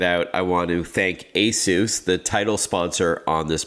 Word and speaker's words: ASUS: And yes, it is pronounced ASUS, like Jesus, but a lot of my friends say ASUS.